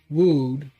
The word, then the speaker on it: wode: Um wo is primarily an obsolete middle English term pronounced woud rhyming with or load.